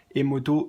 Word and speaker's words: Emoto: Euh, essaie de le mettre comme ça se prononce, tu vois, Masaru, enfin avec un S à la place d'un Z, Emoto, E-M-O-T-O.